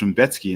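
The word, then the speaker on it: Rębecki: So apparently it's Raumbecki, and that absolutely blew my mind. But it's Polish, so I guess that kind of makes sense because they pronounce things all kinds of crazy.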